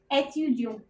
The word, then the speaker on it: étudiant: अगर कोई लड़का बोलेगा तो वो बोलेगा je suis étudiant, वो टी प्रोनाउंस नहीं करेगा एंड में, ओके।